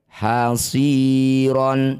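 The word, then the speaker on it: حصيرا: Hasiron setelah berhenti hasiro dua harakat saja.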